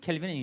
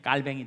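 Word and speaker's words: Calvin: 그래서 이 요즘은 켈빈은 영어식 발음이기 때문에 그 사람이 본래 이름은 깔뱅이라고 하죠. 깔뱅. 프랑스로 철자는 같아요. 프랑스로 이 발음을 하면 깔뱅이 되기 때문에 옛날처럼 요즘은 켈빈이라고 안 하고 깔뱅이라고 하는 이름이 더 많이 쓰여집니다.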